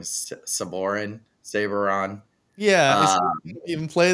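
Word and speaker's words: Sabourin: Saborin?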